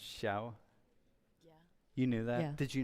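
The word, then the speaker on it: Xiao: that by the way in Mandarin X I ao is pronounced shiao you knew that did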